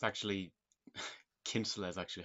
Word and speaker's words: Kinsella: I'm sure like a lot of Americans probably do pronounce it that way, but that's the, at least in Ireland, that's the traditional way of pronouncing it.